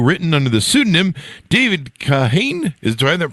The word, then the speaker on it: Kahane: His popular columns for National Review, written under the pseudonym David Kahane, do I have that pronounced correctly?